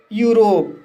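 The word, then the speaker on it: Europe: जैसे यूरोप, यूरोप शब्द में ई यू आया है, इसलिए ई यू का उच्चारण यू होगा, इसलिए इसे यूरोप पढ़ा जाता है।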